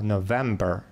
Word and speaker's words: November: Ну, не November и не November, а November. То есть ударение на второй склад.